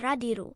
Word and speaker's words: Radiru: However, he was annoyed with Jinu who always mispronounced his family name as Radis, when in fact it was Radiru.